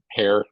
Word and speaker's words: Heer: crossgen grade medicine or my name heer hair how it's pronounced doesn't look like it's hair but it is um I am not